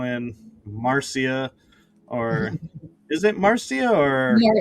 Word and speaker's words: Marcia: Or is it Marcia or Marsha? Marca. Spelled Marcia, but it's pronounced Marsha.